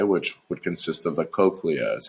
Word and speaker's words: cochlea: The inner ear converts vibrations to nerve signals that travel to the brain, okay, which would consist of the cochlea is how you would pronounce that.